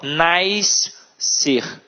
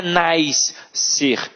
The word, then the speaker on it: nascer: Então elas falam nascer, piscina. E não é nascer e nem piscina. É piscina e nascer.